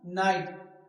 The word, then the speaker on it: night: मतलब प्रकाश, है ना, नाइट, NIGHT नाइट, नाइट मतलब रात। तो यहाँ भी GH क्या है, साइलेंट है।